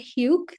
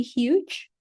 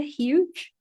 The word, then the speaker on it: huge: Ini bukan huge, tapi huge. Ada J-nya ya, huge.